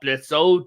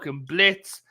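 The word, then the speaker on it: Blitzø: the adopted daughter of Blitz not Blitz o the O is silent um so she's his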